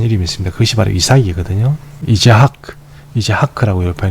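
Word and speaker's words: יצחק: 이제하크라고 발음이 됩니다.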